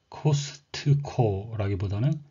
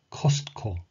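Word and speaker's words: Costco: 그리고 우리에게 친근한 대형 슈퍼마켓 코스트코라기보다는 코스트코, 코스트코, 예, 스코가 돼서 T를 앞에다 붙여주는지 거의 약하게 발음해야 될 거고요.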